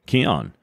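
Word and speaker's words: Kion: It's all over at Keon, K-I-O-N, key, like prana, chakra, life force, energy. That's what key stands for, and that's how you pronounce it.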